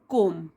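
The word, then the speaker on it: comb: ही गॉट अ कोम, तो उसको एक कंघी मिली, इसमें बी साइलेंट होता है, कोम, ही गॉट अ कोम, उसको एक कंघी मिली, वर्थ 25 पैसे, 25 पैसे की।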